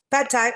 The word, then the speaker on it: pad thai: a peanut beef pad thai, or is it pod thai? I'm not sure how to pronounce that correctly. Pad thai.